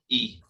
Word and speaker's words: Castine: Yeah, it looks like you pronounce it Castine. It's named after some French person, but it's Castine.